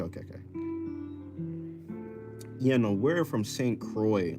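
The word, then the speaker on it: St. Croix: Know where from St. Croy? like it's spelled it's like how you spell Lacroy like the bear um St.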